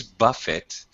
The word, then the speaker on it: Buffett: just to clarify uh his last name is a word in english which originates in the french language so it's pronounced buffet anatoly do you ever